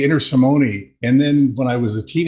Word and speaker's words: Intersimone: That's why I went for I, but I used to say Intersimone, and then when I was a teenager, one of my Italian relatives said, no, it's Intersimone, with accent on the T.